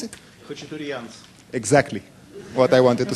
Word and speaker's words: Khatchtouriants: please, how do you pronounce it? Khatchtouriants.